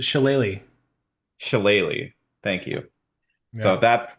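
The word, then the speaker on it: shillelagh: is and I'm going to screw up the pronunciation of this because I don't know what it what it actually is but Chile uh close it's sheleighly shilleli thank you so that's that's what this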